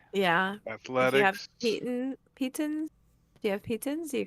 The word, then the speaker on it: piton: pitons, do you have pitons? You could just try scaling it. with Yeah, no he's rope. got pitons. Why are you guys yeah, I saying don't- Peyton?